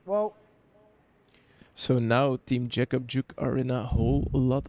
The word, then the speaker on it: Jeck Op Jück: yob yuk Jacob juk I I think the actual pronunciation is yob yuk team Philip guilter is